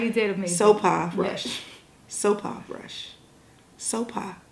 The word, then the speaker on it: Sopha: Sopha Rush. Yes. Sopha Rush. Sopha. Not Sopa, not Sofa, because that's what you're going to want to say when you see the spelling of her name.